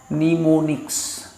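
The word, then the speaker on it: mnemonics: তা আমি বইটাতে যেগুলো আছে সেই বইটার নিচেই দেওয়া আছে, নিমোনিক্সটা আছে, নিমোনিক্সটা দেওয়াই আছে, নিমোনিক্স, নিমো, MONICS, নিমোনিক্স। হ্যাঁ, এমটা সাইলেন্ট থাকবে, নিমোনিক্স বলে এগুলোকে।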